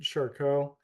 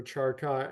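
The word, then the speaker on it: Charcot: first uh described by Jean Martin shco um or charot I think as we pronounce it in the US and then in 1992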